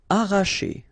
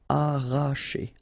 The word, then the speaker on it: arracher: Arracher. Okay, don't pronounce the double R, sorry, it's just like if you would have only one. Arracher, arracher.